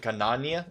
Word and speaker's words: Ghanaian: Shangi is Ganania. Is that how you say that? Ganania. And FF says coffee. Coffee's Ganayan.